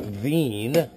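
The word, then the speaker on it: Wien: was actually from austria vienna austria they pronounce it veen i don't know why there's no v well there is a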